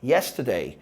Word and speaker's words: yesterday: um tempão e assustei cuidado com a palavra yesterday porque a sílaba tônica é a primeira todo mundo fala yesterday a sílaba tônica não é dei é és então fica yesterday aí top são feitas